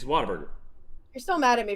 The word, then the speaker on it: Whataburger: It's Whataburger. You're still mad at me for asking you how do you pronounce that name, aren't you?